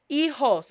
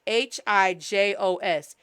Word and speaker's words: hijos: H is silent. Hijos. And J is pronounced like a H. So la H es silenciosa. Shh. And J is pronounced like a H. H-I-J-O-S.